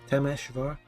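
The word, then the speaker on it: Temesvár: That's pronounced Temesvar. That's also how the Hungarians pronounce it, isn't it?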